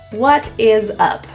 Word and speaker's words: what is up: What is up? The S becomes a Z sound.